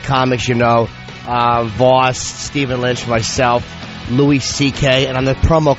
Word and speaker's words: Louis: All the comics, Voss, Stephen Lynch, myself, Louis C.K. And on the promo, could they stop pronouncing it Louis? It's not Louis. I know. Do they say Louis C.K.? Yes, Louis. He is Louis.